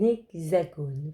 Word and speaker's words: hexagone: Un hexagone. Vous avez vu, il y a un H muet au début. Le X, X, fait X.